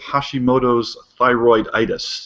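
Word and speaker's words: Hashimoto's thyroiditis: she wrote an article about her adventures with Hashimoto's thyroid itis did I get that about right Janelle you got it right that's how you pronounce that yeah super well thanks for being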